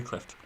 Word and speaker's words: Clift: Montgomery Clift oh Cliff do you pronounce the T clip Montgomery Clift and I'm questioning it